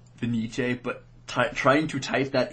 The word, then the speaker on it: Fenice: There was it's pronounced Fenice, but trying to type that in is really difficult.